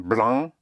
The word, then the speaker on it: blanc: So we started with C, like in avec, like in sac for bag, except NC, like in blanc and franc, yes?